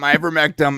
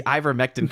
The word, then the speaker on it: ivermectin: Gary, who can't see ivermectin correctly, because he says ivermectin too. It's like there's no M in it.